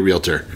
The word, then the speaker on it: realtor: I've got a real estate license, and I am not qualified to be a realtor.